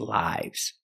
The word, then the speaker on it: live: where do you live in that case the pronunciation is the short I sound the short I